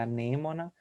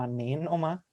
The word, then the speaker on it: anêmona: O certo é anêmona e não anênoma.